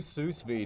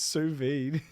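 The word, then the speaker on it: sous vide: All right, we'll do sus vay. Did you say suss vay? Yeah. Or what? What? How does it how is it pronounced? Suvid.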